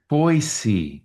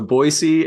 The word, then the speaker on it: Boise: And you guys, is it Boise SE or ZE? How do you pronounce it? Just for the foreigners who are listening to us right now. Oh, children. It's I always say it Boise.